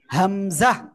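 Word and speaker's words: همزة: এরপরে আমরা যে অক্ষরটা এখন শিখতে যাচ্ছি, সবাই দেখেন এই যে অক্ষরটা হামজা, হামজা। ঠিক আছে? কোন জায়গা থেকে উচ্চারণ হয়? গলার শুরু থেকে হামজা।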